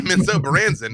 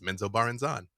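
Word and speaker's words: Menzoberranzan: So, it's not Menso Baranzen, it's Menso Barnan.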